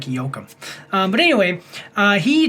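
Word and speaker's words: Joachim: Uh, so that's either Jookum or Yokum or Hakeim, but I'm pretty sure that it's like Yokum.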